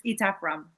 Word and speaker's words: Etaf Rum: Is it Etaf Rum? It's Etaf Rum.